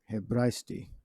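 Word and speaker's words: Ἑβραϊστί: Aramaic all right but this is how you say Hebrew all right in the Hebrew tongue hebrasty okay now it's looking at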